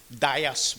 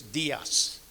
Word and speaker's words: Diaz: The captain of the ship was a man called Captain Tom Dias, we call him, but the right pronunciation for the name is Diaz, from Rockhold.